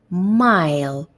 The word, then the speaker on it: mile: But the second one, where we have the silent E at the end of it, I read mile, mile. So this is the letter I, and when I have the silent E at the end of the word, it is like I'm calling the letter I, mile.